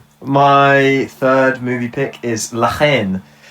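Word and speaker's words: La Haine: My third movie pick is Lahen. I don't Oh, is that how you pronounce it in French? Len.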